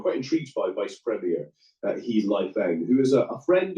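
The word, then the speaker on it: 何: Yeah, I mean, He Lifeng, to give him his, it was a confusing surname in Chinese, but it's pronounced He.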